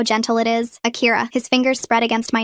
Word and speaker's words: Akira: Akira. No, you need to soften the R like this. Akira.